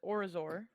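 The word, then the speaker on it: Orizor: ship introduces himself as orazor it's a it's a mouth or resort spell it how you think it sounds uh sounds like oreo got it o r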